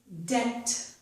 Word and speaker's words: debt: The first one is debt. Debt, a bill you owe. We do not pronounce the letter B.